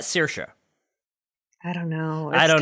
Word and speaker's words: Saoirse: it comes to mispronouncing I've heard it's Saoirse Ronan okay which if you look at it si oh I r SE how is that Saoirse I don't know I